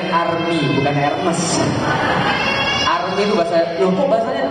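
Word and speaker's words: Hermès: itunya berarti gak tahu masih pakai barang KW bacanya arm bukan arm itu bahas loh Kok bahasanya tulis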